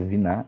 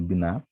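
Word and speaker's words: בינה: Perceba aqui que não tem o Dagesh, por isso que a pronúncia é Viná e não Biná.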